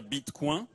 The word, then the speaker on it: Bitcoin: france mais comme ces beacon france il faut dire beat coin c'était insisté sur cette prononciation depuis que montebourg a